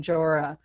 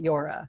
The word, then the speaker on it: Jora: who invented it and his name he pronounces his name jorah but a lot of people will pronounce it yora so you're not alone